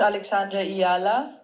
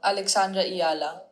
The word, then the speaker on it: Alexandra Eala: My name is Alexandra Eala. Alexandra Eala.